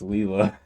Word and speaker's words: Lila: Her Okay, name is pronounced Leela.